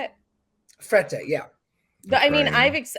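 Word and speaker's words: Frette: that was definitely the worst I mean the Fred sheets is just unbelievable is that even that's how you say it fret yeah but I mean I've I did experience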